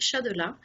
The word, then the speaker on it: Chadelas: prononce le S ou pas? On le prononce pas.